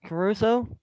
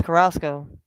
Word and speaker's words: Carrasco: We got Kyle Wright on the mound against Carlos Carlos Caruso. Carlos Carrasco. Yeah, sorry, my bad. I butchered his name.